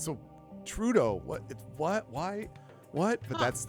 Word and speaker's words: Trudeau: And every time I'm like, ugh, it's so Trudeau. What? Why? What? But that's how they do it. They always pronounce the first syllable, emphasis on the first syllable of his last name.